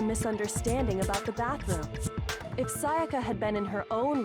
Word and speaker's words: Sayaka: Well, to be more specific, what the killer didn't know was that Makoto and Sayaka had switched rooms, which is what led to the misunderstanding about the bathroom. If Sayaka had been in her own room, then There